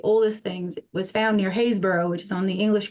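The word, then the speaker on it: Happisburgh: look up the picture if you look up hayborough which is spelled basically if you were to say it hausburg um and there's sites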